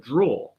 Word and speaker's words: drawer: It says, hello, can you please tell me how to say the word draw? That's a great question because, yes, the word, it's spelled with the ER is funny.